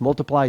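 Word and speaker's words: multiplai: instead of Y in the end so it's multiply.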